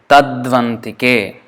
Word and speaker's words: तद्वन्तिके: Tadvantike as one word, but actually it is 3 words. Tad, U, Antike. So U plus A becomes V, Va. So Tadvantike.